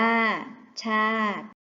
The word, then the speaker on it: ชาติ: เกต อ่าน ว่า เกด ชาติ อ่าน ว่า ชาติ เรา มา เติม ตัว